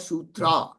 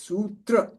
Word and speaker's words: sutra: Okay, again not sutra. It's sutra. But there is a bar on top of u. So it becomes oo sutra.